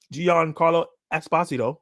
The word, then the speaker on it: Giancarlo Esposito: During a panel on the Thunder stage at CCXP, Giancarlo Esposito, because that's how you say his name properly,